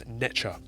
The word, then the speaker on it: NTR: Either way, it is represented as this symbol, and comes from the Egyptian NTR, pronounced as Necha, simply meaning God or spirit.